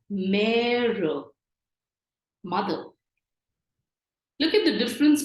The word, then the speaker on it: mère: Supposing the word for mother, we know E with an accent is an A sound, but here we are going to really stress on the A sound. It is pronounced as mère, mother.